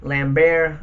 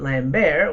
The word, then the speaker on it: Lambert: fights with Christopher Lambert lamb bear I think it's how you pronounce it lamb bear because he's French or can ain't no